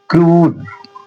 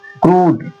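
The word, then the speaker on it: crude: तो उसका उच्चारण किस में कन्वर्ट हो जाता है? बड़े वाले ऊ में। देखिए लिखा है क्रूड क्रूड ये उ है ना बड़ा ऊ बन जा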